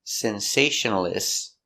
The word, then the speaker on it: sensationalist: Sensational I Sensational s sensationalist t sensationalist sensationalist five syllables sensationalist stress is on the second syllable sensationalist sensationalist she's a